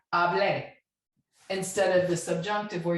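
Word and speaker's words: hablé: But to differentiate between the preterite and the subjunctive, you know that the preterite form has an accent on the E. So you say hable instead of the subjunctive where you say hable, okay?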